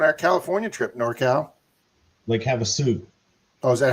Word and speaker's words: Havasu: Ah, Lake Havsolaw. I've been to Lake Havsolaw. Got there once. Got there once on our California trip. Norcal. Lake Havasu. Oh, is that how you pronounce it? Lake Havasu.